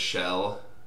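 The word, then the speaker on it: Kjell: Obviously, my brother's name is Shell, and it's spelled K-J-E-L-L.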